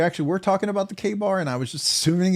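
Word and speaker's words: Ka-Bar: Todd Carr, Rob's already announced, pronounce K-bar, K-bar. Oh, so you're just saying K-bar.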